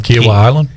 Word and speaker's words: Kiawah Island: got hv3 on the course how do you pronounce the uh the place in south carolina one more time kiawah island kiawah kiawah kiawah kawhi leonard island it is